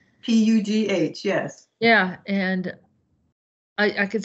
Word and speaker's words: Pugh: Pugh, yes.